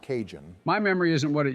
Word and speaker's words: Cajun: It's not Cahoon, it's pronounced Cajun.